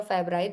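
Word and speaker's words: Fabry: Further for example we have here the fabri disease okay fabri disease or a fabri both of the pronunciations are there.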